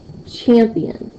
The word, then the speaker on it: champion: example the word champion champion do you hear me saying more of an emphasis on the champ for the P for